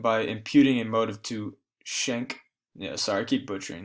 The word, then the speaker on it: Schenck: So the first major case to reach the High Court, and this was Schneck. How do you pronounce that? Yeah, Schenck versus the United States.